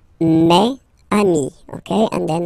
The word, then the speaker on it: mes amis: plural form, so it's mes amis, okay, and then let's be purist and make this beautiful liaison between these two words. Mes amis, mes amis, mes amis.